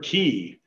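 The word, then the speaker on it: cay: we mispronounce all the time is the word key it's spelled k it's really easy to pronounce it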